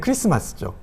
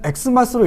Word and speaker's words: Xmas: 이것은 어떻게 읽으면 될까요네 크리스마스죠 크라이스트가 크라이스트 헬라어가 이제 크리스토스인데요이 크리스터스의 첫 번째 헬라어 알파벳이 카이인데 영어로 x와 모양이 같고 발음을 크로 하는 것이죠 그래서 x 마스는 크리스토스 마스 크리스마스 야고어입니다 그러면 엑스 마스로 읽으면 안 될까요 웨스터